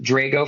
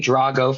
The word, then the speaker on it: Drago: My uh heritage is Sicilian, so it's pronounced Drago for me, Drago for a Russian, but I don't take offense when people pronounce it the wrong way.